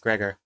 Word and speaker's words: Gregor: Like the way she pronounces my name is Gregor. Gregor. That's how my name is pronounced, Gregor.